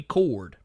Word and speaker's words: Kord: But yeah, basically, all we know is that her name is going to be Cord, but it's spelled Kord, the way Ted Cord's last name is.